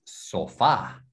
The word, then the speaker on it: sofá: Sí, entonces acuérdate, hay acento en la A. No, sofa es sofá.